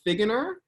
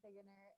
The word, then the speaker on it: Figgener: everyone uh yeah so as he already said perfectly pronounced my name is figuener and um i am